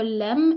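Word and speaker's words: لام: Alors, c'est la lettre Lem et elle se prononce L. C'est comme la lettre L en français, c'est L.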